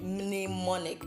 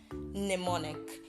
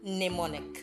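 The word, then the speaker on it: mnemonic: mneumonic we're not saying mneumonic because the letter m is actually silent I'm sure you've been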